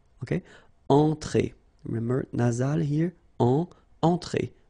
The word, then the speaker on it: entrée: Okay, remember, well, technically this final here is not pronounced, so phonetically it doesn't exist, so it's et. Okay, entrée.